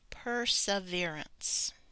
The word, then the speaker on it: perseverance: per sir there months perseverance that is a big word for syllables per here's okay ah so there that's an R controlled vowel hunts and that's really schwa in perseverance perseverance is persistence persistence